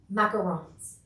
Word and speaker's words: macarons: know there is a lot of people doing macarons yes i'm gonna say it right but the